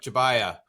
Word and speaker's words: Jabbia: I'm like, Jabbia.